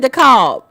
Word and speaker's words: DeKalb: I'm in DeKalb, aka DeKalb. I told you, y'all take the L out, I'm gonna start saying DeKalb.